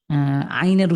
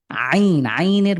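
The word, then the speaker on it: ع: আইনের মাখরাজ কোথায়? আইন কিভাবে উচ্চারণ হয়? একটু হরফটা আপনি উচ্চারণ করেন। আইন। হ্যাঁ, কণ্ঠের মাঝখান থেকে আরেকটু ভালো করে, আরো স্ট্রংলি।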